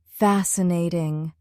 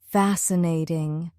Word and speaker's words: fascinating: The stress is on the first syllable. Fast cnatting. Repeat slowly. Fascinating. Now faster. Fascinating.